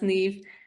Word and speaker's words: Niamh: is spelled ni M it's an Irish name pronounced NE um but yeah I think Facebook is I'll